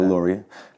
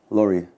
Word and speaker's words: Lori: now I'm switching to Lori cuz people can't really spell my last name so I'll just give them the pronunciation of the first half Lori my friend Gio's mom's